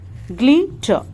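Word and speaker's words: glitter: ग्लिटर, English में ज्यादातर आर जो है वो कम प्रोनाउंस किया जाता है।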